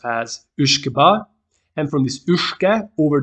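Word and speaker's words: uisge beatha: And the name originally, it's Gaelic, it has to be pronounced as Uishkeba.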